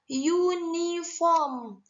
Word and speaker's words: uniform: utility tholibah dan bukan n karena penyebutannya adalah uniform uniform yuk nantikan YouTube konsonan ya Tolitoli basonya atau pronounciationnya atau pengucapannya jadi kita menggunakan emas Q